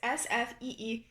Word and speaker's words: Sfeeha: If there is one pastry item that deserves a standing ovation from the Lebanese kitchen, it is Sfeeha, pronounced. And then it says Sfeeha with the A like apple.